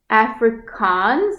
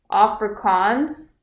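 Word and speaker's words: Afrikaans: it's really close to Dutch so yeah um Africans is it Africans have I been pronouncing it wrong the whole time Africans afria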